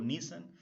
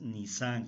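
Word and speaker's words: Nisán: Y corrijo también porque a veces digo Nisan, no, la pronunciación es Nisan con tilde en la A, el día de la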